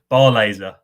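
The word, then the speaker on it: Barlaser: right down no yeah bar laser that's how you do it i know it's a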